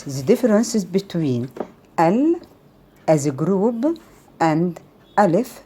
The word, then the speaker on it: ال: Alif and lam as a group, and which we pronounce them al.